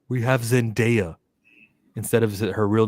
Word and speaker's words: Zendaya: That's not how you say my name. My name is Zendaya, not Zendaya.